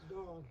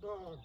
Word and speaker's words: Balne: Born. Yeah. It's pronounced Born.